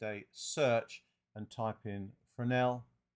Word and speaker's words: Fresnel: search and type in fresnel and it is for an L yes is silent go and I put